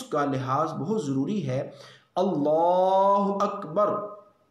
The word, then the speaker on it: اللہ اکبر: اس لیے اس کلمے کے تلفظ کا لحاظ بہت ضروری ہے۔ اللہ اکبر، اللہ اکبر، نہ الف لفظ اللہ کے الف کو لمبا کرنا ہے، نہ لفظ اکبر کے